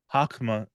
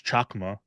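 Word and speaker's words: Chokhmah: kther is the crown hakma or I guess it's chakma I'm used to reading things with in Irish pronunciations chakma is wisdom and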